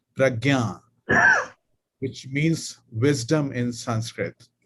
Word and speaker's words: prajna: it p a jna prajna in Sanskrit it is pronounced as pragna which means wisdom in